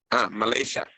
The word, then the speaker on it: Malaysia: ¿Cómo se pronuncia en inglés Malasia? Malaysia.